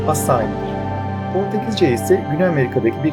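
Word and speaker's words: açaí: Bu arada yazıldığı gibi genelde açai diye okunsa da aslında gerçek okunuşu Portekizce'deki gibi asai'dir.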